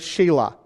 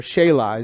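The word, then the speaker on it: Selah: In the middle of the verse, you see the word Shelah, or Shelah. It could be pronounced either way.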